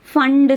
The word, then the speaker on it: Pfund: you call it as fund series. Fund series, here P fund we will write, but P is silent.